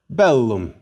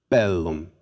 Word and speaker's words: bellum: Here's the word for war, bellum. No worries about accents here. First syllable. Again, war, bellum.